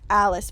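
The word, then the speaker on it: Alas: It's pronounced Alice, but it is spelled A-L-A-S, which is basically just the first few letters of Alistair's name.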